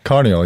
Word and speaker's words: Carneol: Carneol, yeah.